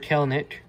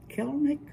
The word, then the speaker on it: Kelenic: And Yeah, here's our first rookie card, Jared Kelenic. Okay. Kelnick. Yes. Hmm. Trevor Rogers. Okay. That's an easier name to pronounce.